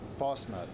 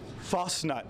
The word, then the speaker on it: Fastnacht: How do we pronounce it? Fastnacht. Fastnacht.